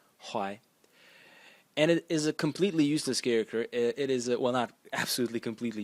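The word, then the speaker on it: 淮: The next character is pronounced Huai. Huai.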